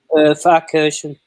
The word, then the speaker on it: Pfarrkirchen: Can you pronounce the track, Andy? Pfarrkirchen. Pfarrkirchen.